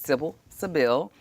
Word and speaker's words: Sybil Sybille: I was teasing, calling her Sybil, and she made sure I pronounced her name correctly, and it's Sybil Sybille.